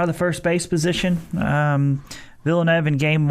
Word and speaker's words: Villeneuve: Villeneuve, that's the kind of one of the oddest pronunciations of a word that looks like it should be Villanueva, but it's not. It's Villeneuve.